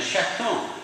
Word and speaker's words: chaton: And one of them says, I've just got a kitten, okay, j'ai un chaton. Oh, we pronounce the T now, don't we? Because it's not the end anymore.